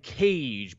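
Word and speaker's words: Kaje: time on the show it's the band cage but it's spelled k-a-j-e they're a diy rock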